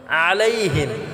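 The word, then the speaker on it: عليهم: হামজা দিয়ে করব এটা আমরা গলায় চাপ দিয়ে উচ্চারণ করব আলাইহিম আলাইহিম আমরা গলায় চাপ দিয়ে উচ্চারণ করব এবং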